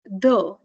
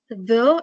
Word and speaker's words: the: You have different pronunciations for the word the. So you have the and the. When the is followed by a consonant sound, you have a different pronunciation. When the is followed by a vowel sound, you have a different pronunciation. So while reading this prose,